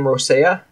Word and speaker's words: Rosella: go so I get up for now on pronounce her name Rossiya what I'll say I can't roll my arse